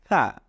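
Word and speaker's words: ح: নাম্বারে উচ্চারণ করুন হা জিভার আগাটাকে আপনি আপনার দাঁতের আগার সাথে লাগিয়ে এরপরে উচ্চারণ করুন হা খুব নরম ভাবে আস্তে করে হা এই হলো আলিফ শিখলাম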